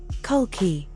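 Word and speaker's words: Kalki: primary domain enlightenment secondary domain detachment pronounced Buddha Khalki, an avatar of Vishnu. Primary domain, end of the cosmic cycle. Secondary domain, restoration. Pronounced Kulki.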